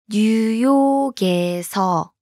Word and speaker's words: 뉴욕에서: Now listen to the New York followed by the location marking particle. 뉴욕에서.